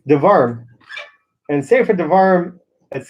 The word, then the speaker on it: Devarim: Determinary. Not determinary, determinary. No, you said it wrong. It's devarim.